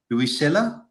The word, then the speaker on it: Luisella: And tell me, am I pronouncing this correctly? Luisella?